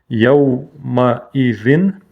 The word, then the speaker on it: يومئذ: Яумаизин. Тут танвин не скошенный, поэтому чисто нун выговариваем.